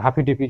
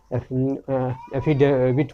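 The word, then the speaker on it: affidavit: है एफिडेविट होता है, हाफिडेविट जो बोल देता है, वो एक गलत उच्चारण है, एफिडेविट होता है, ठीक है, हाफिडेविट नहीं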